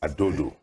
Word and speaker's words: Adodo: Did I get the pronunciation right? Yes. Adodo.